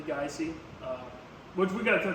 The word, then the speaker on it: Geise: g i eore uh gy often gets mispronounced as gee it's actually gy um which we got